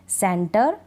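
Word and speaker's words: centre: जैसे BRE को हम बर पढ़ देते हैं, GRE को हम गर पढ़ देते हैं, TRE को हम टर पढ़ देते हैं, जैसे इन स्पेलिंग्स में है सेंटर, थिएटर, कैलिबर।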